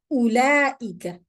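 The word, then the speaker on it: أولئك: It's not ulaika. It's not a madda. The wow is not there. So ulaika. Ulaika. Okay? This is what the empty circle means. You drop that letter. You don't pronounce it.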